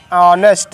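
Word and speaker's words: honest: ऑनेस्ट मैन।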